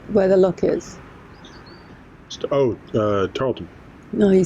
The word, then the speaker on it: Tarleton: place which place where the look is stowed Tarleton no you said it right did I yeah